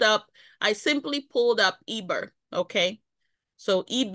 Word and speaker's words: Eber: EB e r okay they will also pronounce it the scholars will also pronounce the Haber or what have you but this is what they say it was transliterated the transliteration is EB e r now notice that this